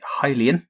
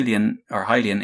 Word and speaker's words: Hylian: So we have Return of the Hylian, believe that is how it's pronounced now, and Oni Link Begins and they're available for OS3 and OS4, and I presume MorphOS as well.